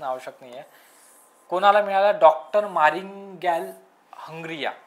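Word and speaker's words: Mariangela Hungria: नाहीये कोणाला मिळाला डॉक्टर मारिंगल हंग्रिया याच प्रोनन्सिएशन थोड कठीण आहे डॉक्टर मारियांगेला हंग्रिया डॉक्टर मारियांगेला हंग्रिया या व्यक्तीला जागतिक अन्न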